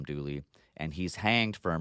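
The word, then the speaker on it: Dula: Mountaineer maybe named uh Tom Doula we pronounce Tom dly and he's hanged for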